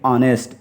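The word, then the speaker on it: honest: हैं ये गलत है एच का साउंड यहां साइलेंट रहता है लिखाता है रिटन फॉर्म में रहेगा लेकिन स्पीकिंग करेंगे तो यहां ओ के बाद से शुरू करेंगे यानी एच को साइलेंट कर देंगे और पढ़ेंगे ऑनेस्ट ईमानदार है ना उसके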